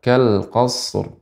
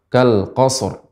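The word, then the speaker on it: كالقصر: Karena shad bukan huruf qalqalah, maka tidak boleh langsung kita mengucapkan kal qasarr ya karena tidak boleh dipantulkan. Sehingga cara membacanya adalah kal qasr. Qasr qasr nam dan ra dibaca dengan tebal.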